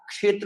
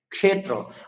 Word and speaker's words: ক্ষেত্র: যেমন ক্ষেত্র, কিয় একার তয়ের রফলা, আমরা ক্ষেত্র বলবো, কটা ভিতরে বদ্ধভাবে থাকবে। অনেকে ক্ষেত্র বলে, কটা উচ্চারণ করতে হবে ক্ষেত্র।